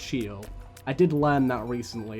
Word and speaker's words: Sheol: because it is pronounced sheol i did learn that recently it's not show it is sheol which to me sounds